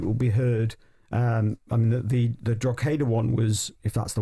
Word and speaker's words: Drogheda: I mean, the Drogheda one was, if that's the way you pronounce it, probably not, but Drogheda.